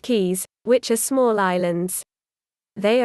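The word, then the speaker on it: cayes: and is inaccessible 42 belize is filled with 450 ks pronounced keys which are small islands they are indeed the key to happiness 43.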